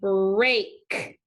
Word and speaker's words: break: So EA again is saying A. So digraph EA needs underlined like always. But this time the E is silent because we hear the A sound. So we're putting a macron above the A and crossing out the E. So this word is saying break.